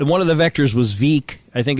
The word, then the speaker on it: Veek: of the vectors was Veek. I think it's Veek 5, and I think it takes you over the ballpark there. It's pronounced Vec. I know, but it's spelled Veek.